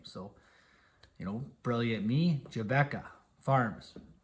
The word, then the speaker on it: Jabeka: you know brilliant me jebecca farms right away my wife says ah you know tyler no everybody will pronounce that jabika farms i'm like oh no